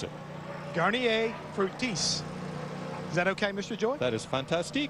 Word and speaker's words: Garnier Fructis: to see him talk about the green car and know how to pronounce it. Garnier Fructis.